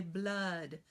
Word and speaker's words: blood: Okay, so the word blood, in American English, as far as I know, British English, not Scottish English, we pronounced the o phonogram as We say blood, Well, that's not going to help us to know how to lock in for spelling that phonogram.